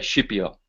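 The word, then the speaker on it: Scipio: this is the commentary of the dream of skipio now being Italian I'll pronounce that shiio because that's the correct pronunciation but there it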